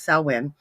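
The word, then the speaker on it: Samhain: in the an ancient Celtic um Festival of saen or salwin however you want to pronounce it I say it Salen I don't know why but it is salwin it is one of the four fire festivals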